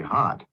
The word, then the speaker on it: hot: Orang Amerika nih mereka pronounce O dengan A itu dia tidak bunyi O, tidak bunyi A.